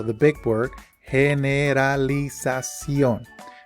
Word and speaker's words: generalización: O the big word, generalización. Remember that when you are reading in Spanish, you simply pronounce each syllable.